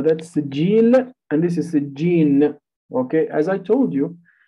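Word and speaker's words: سجين: All right, just make sure you pronounce it with a noon. Sijjin, sijjin, without qalqala, right? Don't say sijjin. وَمَا أَدْرَاكَ مَا سِجِّينَ. Sijjin, sijjin. Okay, not sijjil.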